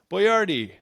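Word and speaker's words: Boiardi: Americans couldn't pronounce buardi. So he phonetically spelled it out.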